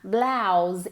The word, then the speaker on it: blouse: Se pronuncia como si fuera una A, blouse, y con una S vibrada, blouse.